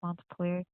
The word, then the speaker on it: Montpelier: Montpelier.